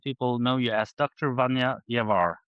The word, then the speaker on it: Vanja Ljevar: Vanja Ljevar, right? That's not a bad pronunciation.